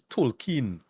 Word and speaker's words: Tolkien: so they actually address it his name is Tolkien but they wait like talking um behold everybody is pronouncing the song like token to like token black guy I think it's